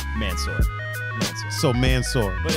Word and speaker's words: Mansour: My high school teachers and all that were always like Mansour, but yeah, I was always like I heard Mansour growing up, but like the ethnic pronunciation of it is like Mansour. I feel like Mansour is like the super Caucasian way of.